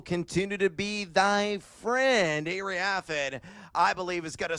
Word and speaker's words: Iriafen: Kiki Iriafen, I believe is how you pronounce the last name.